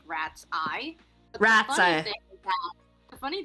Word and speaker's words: Ratsye: It's supposed to be pronounced like rat's eye. But Rat's eye. The funny thing is that I keep reading it as Ratsy.